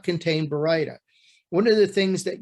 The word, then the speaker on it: Baryta: So the correct pronunciation is Baryta.